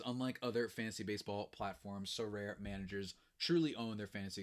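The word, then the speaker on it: Sorare: our new sponsor is so rare two syllables a revolutionary hold on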